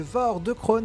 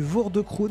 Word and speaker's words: Voor de Kroon: vidéo sur le jeu Vore de Krone. Alors merci à l'abonné qui m'a corrigé sur la prononciation. J'ai lu Vore de Krone, mais ça se dit Vore de Krone d'après ce qu'on m'a dit, donc merci beaucoup pour la correction.